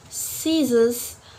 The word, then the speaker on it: scissors: in the in letter c will not pronounce it when the letter c comes after the letters after the letter s for example like scissors scene scenario yep can you hear it the letter c I'm not pronounce it because after letter c we have letter s move